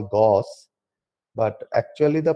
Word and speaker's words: Gauss: By the way, although we the Indians we call Gauss, but actually the pronunciation is Gauss. That is the German pronunciation.